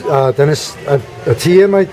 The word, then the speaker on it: Atiyeh: I'm personally a registered independent, and it's a pleasure to be interviewing an independent candidate, Atiyah. Did I pronounce that correctly?